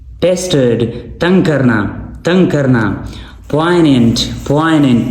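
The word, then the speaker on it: poignant: तंग करना तंग करना पोइनेंट पोइनेंट नीचे हमारे पास है पोइनेंट जी यहां पे साइलेंट है ठीक है इसका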